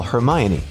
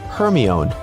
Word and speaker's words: Hermione: Maybe you've said, "Siri, call Hermione." only for Siri to comply with calling Herion. Okay, you may not have Harry Potter's best friend in your contacts list, but we can all agree it's not the easiest name to pronounce.